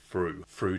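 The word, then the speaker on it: Frew: Fru to rhyme with Drew.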